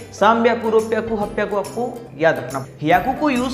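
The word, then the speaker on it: はっぴゃく: पियाकू, हमारा अगला अपवाद है 800. 800-के हमारा आम तौर पर बोलना यह 8*100 होना चाहिए था। हाची एक याकू है. लेकिन छींक आना। असल में होता क्या है? नहीं। यह गलत है। हम इसे यही कहते हैं। हप्पियाकु.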